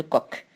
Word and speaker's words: Koch: micro provoquant la tuberculose et le bacille de coke comme ça s'écrit coche et ça se lit comme des